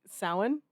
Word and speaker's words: Samhain: We went to go see Sam Hain.